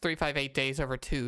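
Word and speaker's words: 358/2 Days: two like that yeah it's pronounced 358 days over two even though that's how it's written off written out we'll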